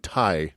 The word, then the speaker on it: Ti: D-O and T-I. That's how they referred to each other and themselves. Who's dough and who's tea? He's Do, she's Ti. Okay.